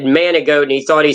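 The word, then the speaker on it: Manigault: nicknamed the goat because his last name man goat but g is how it's spelled but it's French in man managot and the joke is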